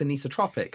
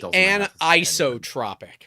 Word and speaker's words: anisotropic: I'm like oh it's anotropic. I'm like oh no it's anizotropic. Yeah anizotropic because I'm a dyslexic idiot and it should be anisotropic. Right. You're you're supposed to be like a like a break there.